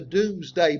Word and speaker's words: Domesday: book known as the Doomsday Book it spelled like domesday and we still have